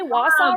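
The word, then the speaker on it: Wausau: grounds wait really yeah did I say Wasa right yeah you did okay I'm really I'm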